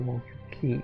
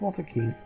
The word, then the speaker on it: Walter Kean: the cabin to kill Walter King am I getting his name wrong he Walter King right yeah yeah it's Walter Kean okay so they definitely